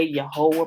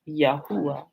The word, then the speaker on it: Yahuwah: pronunciation right you know some people say you're whole but that's using like one o sound it's not really your whole it's yahuwah right you know because remember